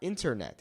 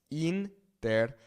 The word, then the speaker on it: internet: It's not internet, it's internet. Remember that the I in Spanish makes that E sound, right? A, E, I, O, U, okay? Internet, okay?